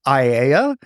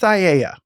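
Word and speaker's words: Aiea: And as for the pronunciation, I'm finding two primary pronunciations, Aeia and Aeia. The years I spent with my wonderful Hawaiian friend makes me lean toward the long E pronunciation, but I'm going with Aeia.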